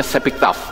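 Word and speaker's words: שבכתב: Ini bacanya Sepiktaf, ya.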